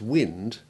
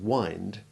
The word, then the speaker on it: wind: A pair of words to be careful of is wind, which blows, and wind, which is what you do to your clock. The former has the short I1 sound, as do its derivatives. For example, windy, window, and windscreen. But the latter has long I1, as does the winder,